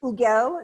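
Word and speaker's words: Hugel: It is Huguel. Did I pronounce that correctly, Mr.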